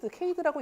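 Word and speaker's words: CHAID: 이거 말고도 퀘스트, C4.5 등등이 있는데 카트, 클래시피케이션 앤 리그레션 트리라는 게 있고, 이건 카이니까 케이드라고 읽는 게 맞는 것 같아요.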